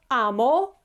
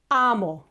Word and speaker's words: amo: syllable is stressed okay because it's not Amo it's Amo okay it's very important that you get the stress in the right place and doing it with